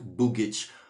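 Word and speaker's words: Bughici: articulated as a vowel the final i tells us that this c is pronounced ch instead of k so there were numerous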